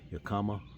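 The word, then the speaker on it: Yakima: Uh Yakama. I guess that's how you pronounce it.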